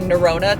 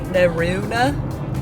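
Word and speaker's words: Norrøna: going to change up this whole saying narona to naruna but and they also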